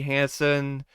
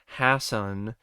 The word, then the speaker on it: Hasson: kind of like uh maddie hansen uh i'm sorry i i think i butchered her last name there yeah it's maddie hassan as sydney lake her